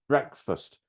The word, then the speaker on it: breakfast: food for breakfast okay remember breakfast two syllables we strongly stressed the first syllable in in breakfast breakfast but the second is weak it's more like first bre first all right Rebecca